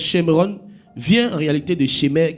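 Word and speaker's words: שומרון: Et Samarie, qui en hébreu se prononce Shemron, vient en réalité de Shemer, qui était le seigneur de cette montagne.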